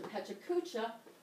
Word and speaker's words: Pecha Kucha: Pecha Kucha, here's the pronunciation, is a PowerPoint presentation set to a timer.